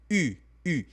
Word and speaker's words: eu: Quando você fala j'ai eu, significa eu tive. J'ai eu. Então, a pronúncia desse carinha aqui não é eu, e sim u.